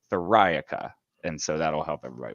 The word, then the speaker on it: Theriaca: friday said it perfectly it's like metallica where you emphasize that second syllable thorica and so that'll help